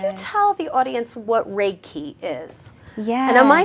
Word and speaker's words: Reiki: Reiki yeah can you tell the audience what Reiki is yes and am I saying it correctly